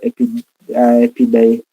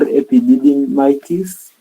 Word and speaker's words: epididymitis: So today we want to start at this condition called epididymitis or epididymitis. It just depends with how you pronounce it.